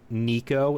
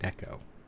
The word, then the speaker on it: Neco: A lot of people say Nico instead of Neco.